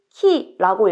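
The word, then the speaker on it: 木: 한국에서는이 한자를 목이라고 읽어요 그런데 일본어에서는이 한자를 훈독 즉 뜻으로는 키라고 읽고 음으로 모으라고 읽습니다 그래서 나무는 키라고 읽고 목요일은 목이라고 읽게 됩니다 참고로 한자 위에다 린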